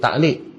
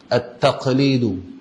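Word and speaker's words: تقليد: Tapi yang betul dia bukan taklid. At-taqlidu, taklid. Allah SWT. Dia qaf. Sa, qaf, lam, ya, dal. Tu kalau ejaan bahasa Arab ni. Tapi kita sebut dengan lafaz ta'liq tadi ni, dia qaf tukar ain, kerana huruf qaf ni dia terlalu berat.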